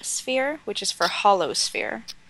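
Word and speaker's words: sphère: So it's like listen, you take the word fair. Fair. And you put the sound air and devant, so it means devant, before.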